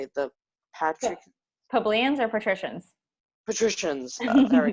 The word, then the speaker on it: plebeians: Why were the patricians frightened by the actions of the plebeians?